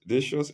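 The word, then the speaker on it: Decius: because these were Christians and the emperor dious dious is spelled capital d e c i u s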